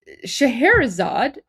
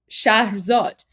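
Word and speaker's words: Shahrzad: And um Shaherzad the original is actually pronounced um Shah Zod.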